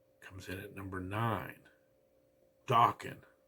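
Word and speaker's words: Dokken: in at number nine Dawan rhymes with Rockin and their song Into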